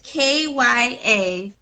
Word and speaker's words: Kyazike: It's Kyazike. Oh wow. Yeah, I Wow. know. I was like, oh, that's how you pronounce that.